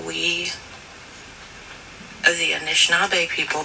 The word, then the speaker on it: Anishinaabe: I just wanted to share with you how we, the Anishinaabe people, pronounce Sabe, and that's it. Sabe is how you pronounce S-A-B-E, and that is what we call Sasquatch, Bigfoot, Sabe. The other is Anishinaabe, and that is interchangeable with Ojibwe, Chippewa, and Anishinaabe.